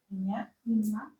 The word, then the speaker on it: меня: The stress is я. Меня.